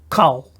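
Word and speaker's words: כָּל: we say down here here it's coal preposition means all every each and the coal is used as it is a closed unaccented syllable so therefore this is closed it means it doesn't have a vowel after the limit so that makes it closed and it's the first syllable so therefore it's unaccented so then we can say kol ashir all what to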